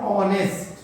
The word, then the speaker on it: honest: अब यहां देखो, ये लिखते हैं हम लोग HONEST, हॉनेस्ट लिखते हैं, लेकिन जब इसको प्रोनाउंसिएट करते हैं, बोलते हैं या पढ़ते हैं तो हम इसको पढ़ते हैं ऑनेस्ट।